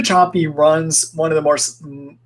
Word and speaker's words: Sapi: that there when um Eva choppy that her last name is spelled sapi Eva choppy runs one of the